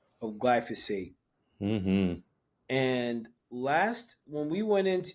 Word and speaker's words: glyphosate: Part 2, we're going to go over some of the other issues or some of the other impacts of glyphosate.